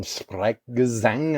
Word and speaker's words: Sprechgesang: It's actually like this technique called it's German Sprechgesang, I think is how you pronounce it.